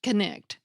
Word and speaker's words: knight: were pronounced for examp example Knight like swin and the Green Knight was pronounced kect the inflectional word endings